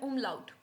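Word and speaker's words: Umlaut: पा रहे हैं ऐसे इनको हम बोलते हैं उम लाउट क्या बोलेंगे उम लाउट मेरे साथ आप रिपीट भी कर सकते हैं इसको हम बोलेंगे उम्लाउ यहां पर आप देख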